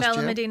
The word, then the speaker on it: Benalmádena: We went to Spain last October to Benalmádena, or Benalmádena is how I pronounce it. I think, or I believe the Spanish way is Benalmádena. Right. Yes, I learned that last year. I would have been Benalmádena as well.